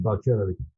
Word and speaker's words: Balcerowicz: You know, Leszek Balcerowicz, you pronounce him right, it's a ch. And Leszek is a sh, because you do it reverse from us. So Leszek Balcerowicz, he is a leader